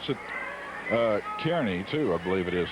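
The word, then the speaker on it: Kearny: pronounced I would I would pronounce it uh Kerney too I believe it is Nebraska Kerney Kerney is what I would pronounce it but he says it's Carney back there name after some guy whose name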